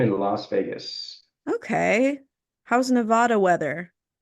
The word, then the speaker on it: Nevada: They pronounce it Nevada here, which I had to get used to saying instead of Nevada.